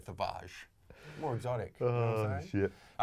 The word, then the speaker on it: Thavage: it's called savage yeah or as i'm uh pronouncing it savage pre-workout i think he said that worse than chris it sounds more it sounds you know it sounds more french when you say tavage more exotic oh [